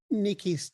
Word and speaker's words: niikiis: First, can you tell me a little bit about what niikiis does? And am I pronouncing that right?